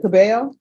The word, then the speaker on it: Cabello: and are you Miss Cabello yes am I pronouncing your last name right yes thank you I'm always the double L's always throw me off counselor have you received